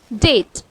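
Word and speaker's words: debt: दूसरा example T के लिए देखते हैं, जैसे डेट। यहाँ पर टी बी के बाद आ रहा है, इसीलिए यहाँ पे बी साइलेंट होता है और इसको हम प्रोनाउंस करते हैं डेट।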